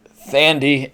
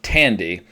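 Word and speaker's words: Thandie: Her name is not Thandy, it is Tandy, and her character's name is pronounced Maeve, not Maeve.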